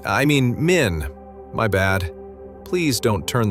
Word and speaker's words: Min: Oh, yes, that's right, Minnie. I mean, Min, my bad.